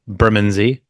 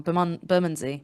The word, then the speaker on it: Bermondsey: Really hard to say. I always get that wrong. Bermondsey. Bermondsey. Yeah. Bermondsey. I always want to say Bermondsey. I only know because I was there that they told me how to say it.